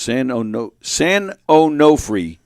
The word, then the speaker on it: San Onofre: San Onofre is pronounced. San Onofre is how you pronounce it. San Onofre?